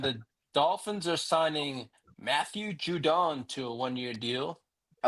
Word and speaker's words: Judon: And the Dolphins are signing Matthew Judon to a one-year deal. I like how you pronounced it correctly. Judon.